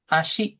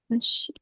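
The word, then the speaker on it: 足: Kaki itu dibacanya asyi. Asi. Heeh. Asi.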